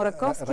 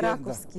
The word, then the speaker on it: Раковски: Да, интересно обаче защо ударението ни е оправим Раковски, а то трябва да е Раковски.